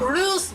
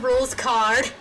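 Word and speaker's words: Rouxls Kaard: Ruse. No, for it's pronounced rules card. He's a Sorry, I saw common. I saw that and I thought about common rider who pronounced Ruse like Rouse like Blouser.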